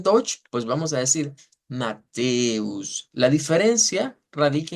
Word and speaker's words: Matthäus: En Dutch, pues vamos a decir Mateus. La diferencia radica en que esta E es una E larga. Entonces decimos Mateus, Mateus, y mantenemos esa E como prolongada.